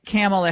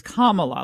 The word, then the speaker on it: Kamala: Kamala then I did Cam Allah and now I'm on to the correct way to pronounce it which is Kamala like the punctuation mark Kamala okay for some